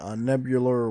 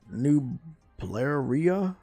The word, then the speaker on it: Nublaria: Yeah, I'm on Nebular 1. Wait, I pronounced that wrong. Nublaria 1.